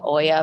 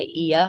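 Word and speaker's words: Oia: in they I think people pronounce it as Oya but I think they say e we stayed in E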